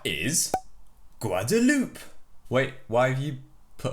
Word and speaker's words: Guadeloupe: This is how you say Guadeloupe in French.